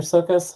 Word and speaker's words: Sokas: okay terrific thank you you pronounced it perfectly and I greatly appreciate